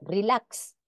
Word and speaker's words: relax: al final de palabra representa la secuencia de dos este sonido en examen exhibir o relax se recomienda evitar la pronunciación de esta x como simple s sin embargo en algunos